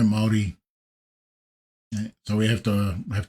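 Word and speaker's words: Māori: So this is a New Zealand kind of voice but it's doesn't pronounce moldi properly. I don't think there's a moldi. I think it's all yeah no maldi.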